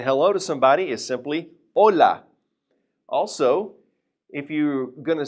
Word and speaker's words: hola: First of all, you know the one we learned a while ago when we were talking about pronunciation with the h, saying hello to somebody is simply hola.